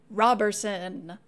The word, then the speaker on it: Roberson: the pro persons and both declared that the name was always pronounced Roberson these testimonies are a